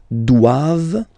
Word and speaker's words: doivent: And then the last one, ils doivent. So same thing, classic ending for the plural form, ent here. Okay, but then you don't pronounce it.